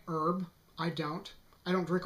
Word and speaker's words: Herb: herb that's a rule we will pronounce the h if it's a person's name now what really bothers